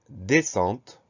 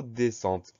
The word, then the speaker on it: descente: Ensuite, on a deux consonnes qui se suivent, S-C et qui se prononcent S. Donc le son S ici s'écrit avec un S et un C.